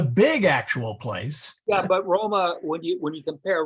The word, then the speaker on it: Roma: varicana the Vatican right in Roma with a long a best so um and